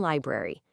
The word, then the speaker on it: library: So natural American English quietly drops the first one. It becomes February and library.